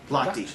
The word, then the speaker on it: Lochte: How do you pronounce this? Is it Lock? Lochte.